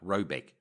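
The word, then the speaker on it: Råbäck: The manor house or herrgård in question is to be called Rayback, pronounced something like Robeck, though it is not its name.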